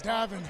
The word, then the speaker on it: Davin: I'm telling you, Gavin, you are fired up, man. Hey, Glenny. But you got my name wrong. It's Davin.